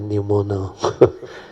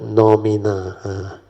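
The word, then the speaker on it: noumena: I always pronounce it pneumono. But actually he said phenomena, then the word nomina.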